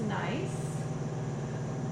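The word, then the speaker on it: gneiss: appearance to it and that is pronounced nice the g n e i s s see all the banning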